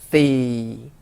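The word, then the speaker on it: สี่: 숫자 4는 일성으로 C 하고 쭉 내리셔야 돼요.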